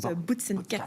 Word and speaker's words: Boots & Cats: On prononce Boots & Cats.